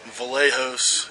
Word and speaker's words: Vlachos: Vlachos. It's Greek. My father's Greek, and the C in it is silent. But it's Vlachos, not Vlachos or any of that.